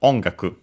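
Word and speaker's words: 音楽: uh and is actually sorry accented on the first syllable. So onaku uh combining the ki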